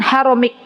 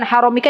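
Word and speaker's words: حرامك: Bacanya an haramik. Kalau mau ibu baca an haramika ya nggak apa-apa.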